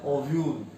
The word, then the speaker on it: ovule: What is the pronunciation? ओव्यूल.